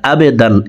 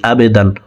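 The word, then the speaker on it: عَبْدًا: أرأيت الذي ينهى عبدا আইনকে হলকের মধ্যখান থেকে উচ্চারণ করব কারণ আইনের মখরাজ হলকের মধ্যখান থেকে হবে আমরা অনেকে আইনের উচ্চারণ সঠিকভাবে পড়তে পারি না আবেদান এভাবে পড়ে থাকি আবেদান হামজার উচ্চারণ করা যাবে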